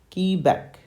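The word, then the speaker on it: Quebec: on back okay so the letter Q in phonetics is pronounced as key back key back key back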